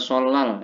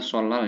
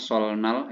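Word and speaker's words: 설날: Korea yang pertama ada solal ya bacanya solal Ya tulisannya solnal ya tapi masuk ke l biasanya solal solaran adalah hari merayakan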